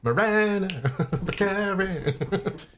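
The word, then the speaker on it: Morena Baccarin: Marina Baccarin. Marina Baccarin.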